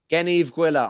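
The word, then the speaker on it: Gneeveguilla: Gen, hard G like good, Eve like Adam and Eve, and Gwilla, another hard G. So, Gen Eve Gwilla, I'm on board with that.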